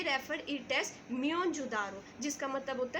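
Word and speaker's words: Mohenjo-daro: Actually हम जो pronounce करते हैं इसको मोहनजोदारो, बेटा वो इनकरेक्ट है, लेकिन सही इसकी प्रोनाउंसिएशन है म्योनजोदारो. अब बेटा ये जो म्योनजोदारो हमने प्रोनाउंसिएशन किया है ये सिंध में है, सिंधी में इसको कहते हैं म्योनजोदारो, जिसका मतलब होता है माउंट ऑफ डेड.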